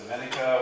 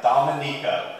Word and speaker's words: Dominica: I think I pronounced it Dominica when I first landed, but yeah, Dominica, not the Dominican Republic.